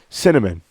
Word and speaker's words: Synnamin: Honest to God, she named her kid Cinnamon. Okay, I'm gonna have to spell this out for you guys. I'll put it up on the screen too. Cinnamon spelled Synnamin, pronounced cinnamon.